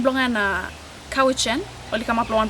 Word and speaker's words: Cowichan: Our valley is named, although today they mispronounce it. It's Cowichan, but we are the Halkamitinam speaking peoples of southern Vancouver Island.